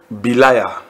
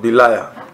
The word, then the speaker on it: Belial: But we want to discuss the lesson Belial. Belial. Belial. B-E-L-I-A-L. Or Belial. It all depends on how you pronounce it. Belial or Belial.